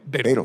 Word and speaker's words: Beightel: It's Beightel. With a B. Beightel, yes. Beightel, okay.